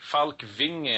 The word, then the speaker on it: Falkvinge: Time now to go to Sweden and talk with Rick Falkvinge, founder of the Pirate Party. Rick, am I pronouncing that correctly, your name? Fairly correct. It's Rick Falkvinge, actually. It's a Scandinavian name, but yeah, I'm here.